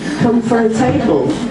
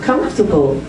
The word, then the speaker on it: comfortable: whole new word uh come for a table instead of comfortable and that's that's a